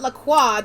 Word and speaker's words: LaCroix: uh king louis xvi lacroix uh welcome to regency france listen i would pronounce it laqua the proper way in yeah i'll have